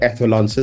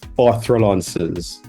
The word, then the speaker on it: echelons: those are the higher echelons of society. Hold on. The higher what? Orthrolances. Is no. I'm putting emphasis on the wrong letter.